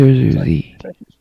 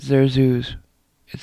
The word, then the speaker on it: Zerzuzi: So, Zerzuzi. Zerzuzi. Sequin. You said Zerzuz. It's Zerzuzi.